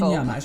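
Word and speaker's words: Wandignies-Hamage: right now, I mean, even to pronounce this one, Ornain à Wandigny-Amage. That's okay? I think that's okay. I'll just call it secteur Jean Degenkolb. Wandigny-Amage is good. Yeah, it's good.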